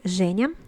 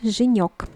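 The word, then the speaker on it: Женя: can be shown into genius i know that this uh first sound is very hard for the non-russian speaker but you have to practice like debug noise genius and it is also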